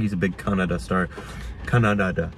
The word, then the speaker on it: Kannada: Kannada, right? Yeah, is it Kannada or Canada? Just like no, it's the country. Not, I know it's not Canada. It's not pronounced like Canada.